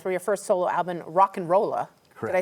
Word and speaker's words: Rock and Rolla: Okay, Romero, you've been playing songs for your first solo album, Rock and Rolla. Did I say it right? You did. Rock and Rolla.